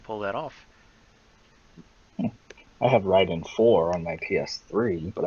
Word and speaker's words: Raiden: where they changed the spelling to match the pronunciation you know I always used to say Raiden probably because of that like I mean it took me forever to say Ryden correctly when I played middle Gear Solid 2